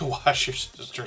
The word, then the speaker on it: Worcestershire: Wash your sister sauce is a common way to say it. Yes, Kristen's making me laugh in the background here. But Worcestershire, the only reason I might be able to pronounce that accurately is because of the name of that town.